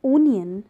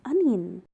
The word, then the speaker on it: onion: food in the salad but people call it onion but the exact pronunciation is onion but is noodles I have seen people saying